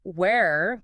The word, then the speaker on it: where: Where like the place has that air sound where. But were the past tense of be sounds more like were almost like the start of work. Were where.